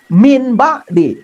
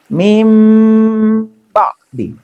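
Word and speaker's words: مِنْ بَعْدِ: Tidak boleh min ba'di, tapi mim ba'di.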